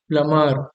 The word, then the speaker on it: plumber: उसी तरह प्लम्बर में भी बी साइलेंट होता है, बी को नहीं पढ़ते हैं, तो इसका प्रोनाउंसिएशन क्या हो जाएगा? प्लमर।